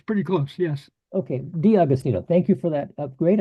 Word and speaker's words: D'Augustino: be here yeah did am I pronouncing your name correctly uh yeah you're you're pretty good D austino is what my parents have always uh how they pronounced it so that's it's